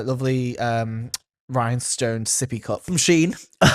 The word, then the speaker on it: Shein: I thought you said it's Do you say Sheen or Shen? I say Sheen. Because someone said Shen the other day and I was like, no, you're just wrong. I mean, if you look at the way it's spelled, it's Shein. It's Sheen, yeah.